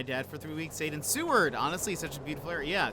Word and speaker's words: Seward: Seward um and also I'm not saying sewer by the way everybody the first time people were talking about going going there was what is this that's a terrible name for a place but